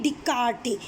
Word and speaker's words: Descartes: First one is coming René Descartes. S is silent.